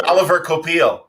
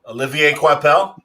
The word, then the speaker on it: Olivier Coipel: It's Oliver Coipel. Olivier Coipel? Yes.